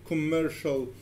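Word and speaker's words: commercial: اي بيتنطق كانه اس لكن في الكلمات دي حرف السي جاي بعده حرف الاي ومنطقه كانها ش كانها اس اتش يعني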